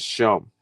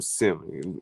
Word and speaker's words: Shem: It is Shem, not no damn Sim.